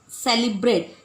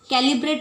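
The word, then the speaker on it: celebrate: सुमित को साधे सब सेलिब्रेट कैलीबरेट नहीं बोल रहा हूं सेलिब्रेट यू टू कैसी के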